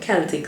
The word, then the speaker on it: Celtic: A good tip to staying hydrated is to add pink Himalayan salt or Celtic salt. Some people pronounce it Celtic salt, but either way, if